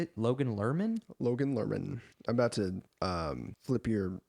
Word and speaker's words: Logan Lerman: Logan Lerman.